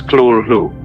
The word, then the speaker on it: Cthulhu: However, Lovecraft wrote that the closest pronunciation is Cthulhu.